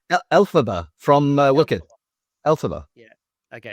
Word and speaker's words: Elphaba: You then have, how do you pronounce that? Elphaba? Elphaba from Wicked.